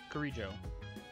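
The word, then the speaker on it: Kirijo: Mitsuru Kuriju. Kurijo. I still need to pronounce her name right more often.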